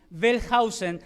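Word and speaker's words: Wellhausen: muy muy difícil pronunciarlo aunque dicen que la W se pronuncia como una b chica bellhausen algo así debe sonar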